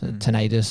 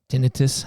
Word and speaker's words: tinnitus: Um had ringing in my ears, tinnitus or tennitus, it depends how you want to pronounce it.